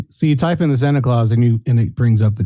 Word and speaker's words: Santa Claus: I was incorrect in the pronunciation. It's Santa Claus, the movie.